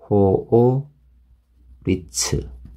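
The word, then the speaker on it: 法律: 네 장엄이 나왔죠 그래서 발음하실 때 여러분들이 호오 리츠 이렇게 생각하시고 호 호 호 리츠 이렇게 발음하시면 정확한 발음이 되겠습니다 그래서 작은 발음하실 때는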